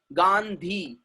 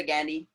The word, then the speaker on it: Gandhi: ध का sound English में नहीं है. There is no ध sound in English. But foreigner लोग अपने इंडिया में आते हैं और क्या बोलते हैं? मिस्टर गैंडी. गैंडी बोल रहे हैं, गाली देता है क्या?